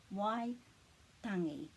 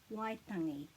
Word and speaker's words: Waitangi: Waitangi. So this T is a bit flat. It's not tangi. Waitangi.